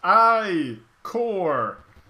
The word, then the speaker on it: ichor: That's pronounced I-core!